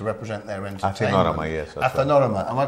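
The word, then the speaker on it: Athinorama: Athanorama, am I pronouncing it Yes, correctly?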